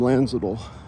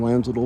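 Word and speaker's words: Landsiedel: Tom Lanzel was the leader of the band, co-lead singer and bass guitar player. I believe the D is silent. Although Lanzol is spelled L A N D S I E D E L.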